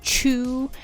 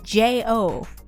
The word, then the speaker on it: Cho: It is Cho. Actually, CHO is wrong as well. It's JO.